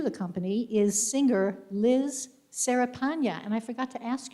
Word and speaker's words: Cerepanya: company is singer liz serapanya and i forgot to ask you if i'm pronouncing your name correctly liz is it sarah panya did i say it correctly okay good okay where